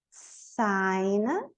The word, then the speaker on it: sign: Então, champagne, sign, net. O G aqui não pronuncia, net.